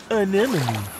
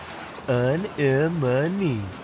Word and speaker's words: anemone: Anemone. Anemone. Anemone. Anemone. Hey, I got it. Great pronunciation, Dean.